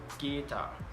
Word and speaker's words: guitar: Next, the letter U can also be silent. For example, guitar, guilty, tongue, and college. And is also not usually pronounced in adverbs like beautifully and wonderfully.